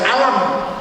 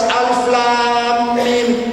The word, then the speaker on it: Alif Lam Mim: tajwid Alif Lam Mim kita baca alam ya tulisannya kan sama alam ah itu salah bacanya harus Alif Lam Mim baca itu namanya mad